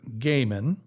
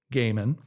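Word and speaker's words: Goeman: true theologian and scholar, Dr. Peter Gaiman, that's spelled G-O-E-M-A-N, Peter Gaiman, of Shepherd Seminary in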